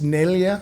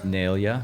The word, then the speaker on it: Neglia: And it's Neglia. Neglia. Okay. Correct. The G is silent, and I'm going to go visit where my grandfather was born.